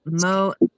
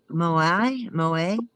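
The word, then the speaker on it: Moët: Jenny said, "Mo, pronounced Moai." Moa. Moa. Yeah. Yeah. You see in the chat she's trying to help me out phonetically. It is M O E T.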